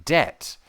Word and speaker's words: debt: For example, the K in night and the B in debt.